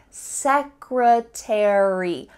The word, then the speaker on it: secretary: book about the military in American English you're gonna pronounce each of the final letters 8ry military in British